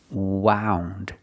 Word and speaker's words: wound: around her finger now we hear the pronunciation ow like around about out wound she wound the string